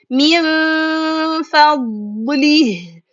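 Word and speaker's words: مِنْ فَضْلِ: Again, pronounce letter meem, the letter before noon, then letter fa. Get ready to read letter fa. Hold that position for 2 counts, and then read letter fa clearly.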